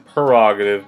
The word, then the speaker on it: prerogative: is prerogative, but I guess it has the pronunciation prerogative, but it's just really weird.